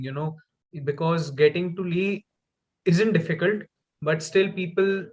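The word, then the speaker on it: Leigh: back to lee lee i think the correct pronunciation is lee yeah i'm from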